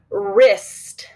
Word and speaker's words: wrist: We're going to put a line through W to let us know that it's silent.